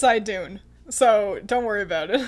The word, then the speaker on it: Idun: it wrong you're wrong i'm 99 sure it's i dune so don't worry about